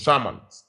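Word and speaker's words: Charmant: It's the Ghanaian case of Kessie versus Sharman. Kessie is spelled K-E-S-S-I-E versus Sharman.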